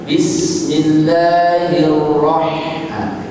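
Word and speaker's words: بسم الله الرحمن الرحيم: Salah itu bacanya. Pastinya Bismillahirrahmanirrahim.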